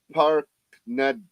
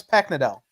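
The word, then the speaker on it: Paknadel: story, the Demons part, was written by Alex Parknad. Kyle, you know how to say this name. He's got a popsicle. Keep going. No, I was getting set up for the next show. It's Alex Packnadell.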